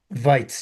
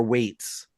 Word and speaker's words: Waitz: Island so like is that how it's pronounced? Vites. Yeah. Yeah. I was calling her Weights.